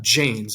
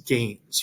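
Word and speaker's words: gens: they're both gu sound so that first one is not jane's it's gains right g is the sound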